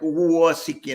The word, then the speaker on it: Uosikkinen: Yes, but because of the U and the O, she sometimes, when I have to do an interview or something, she sends that out phonetically. So she'll do AWE because the UO, it like Uosikkinen, it messes people up.